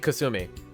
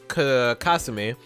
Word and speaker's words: Kasumi: I mean, Kasumi. Well, I guess Kasumi is the Japanese way you'd pronounce it.